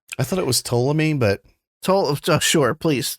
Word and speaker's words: Ptolemy: I think it's Teleme. I think the P is silent. I thought it was Ptolemy, but Sure, please correct me, Daddy.